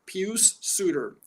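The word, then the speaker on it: Pius Suter: oh oh sorry pcp i can never not pronounce this guy's name right pew suitor okay overseas signing just like dominic kubalik was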